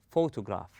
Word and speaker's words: photograph: rest of the word we say photograph we stress on the first syllable then we go easy